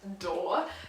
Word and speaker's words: Doerr: time my tits and then it's pronounced door so I will say